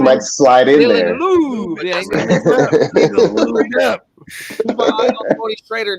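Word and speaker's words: Laube: That could be a sleeper is a Dylan Lobb for the Raiders, bro. I've been starting to hear a little. It's pronounced Lube.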